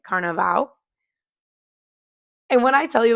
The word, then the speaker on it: Carnaval: And we actually went for Carnival, which in Brazil they pronounce it Carnaval.